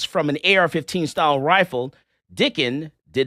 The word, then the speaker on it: Dickens: Elijah Dickens. Say his name. Dickens. Say his name. Elijah Dickens. Elijah Dickens. Say his name. Dickens. Yeah. Oh, I'm saying with the S at the end? No S. Okay. Elijah Dickens.